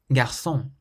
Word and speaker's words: garçon: So we emphasize the last syllable, restaurant. Garçon, garçon means boy.